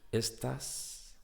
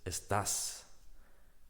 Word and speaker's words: estás: Are you is estás. These girls, estas, because it's feminine plural. ¿Estás con estas chicas en el grupo de voleibol? Are you with these girls in the volleyball team? It's very similar, but it makes a big difference, the pronunciation. So be careful and try to pronounce correctly if you want to